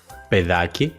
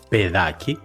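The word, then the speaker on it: παιδάκι: Pero ¿cómo podemos indicar que la combinación alfa-iota en el primer caso se pronuncia E, pedaki, y en el segundo caso se pronuncia ai, paidaki?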